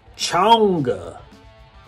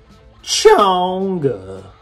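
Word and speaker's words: Chang'e: The middle track, which is pronounced Chonga. Chonga.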